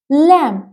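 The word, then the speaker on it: lamb: सो our second word is लैम इट्स नॉट लैम इट्स लैम जो बी है वो silent रहेगा a young sheep the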